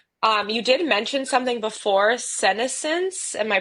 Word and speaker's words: senescence: So, you did mention something before, senescence. Am I pronouncing this right? yeah, What senescence.